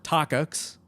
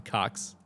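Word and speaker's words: Takács: change made by tibor tox i don't know if we mentioned that earlier but that's how he pronounced his name it's not the cox even though that's how you want to say it um but tibor we'll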